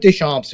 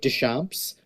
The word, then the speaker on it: Deschamps: You you went with dishamps, which is like the French pronunciation, and like my dad has totally like leaned into that in the last couple years. Um, I usually just say dashamps, but like I also